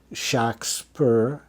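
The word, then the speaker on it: Shakspere: orally to say a clerk um he always pronounced it Shak spur and so the clerks always wrote shocks perr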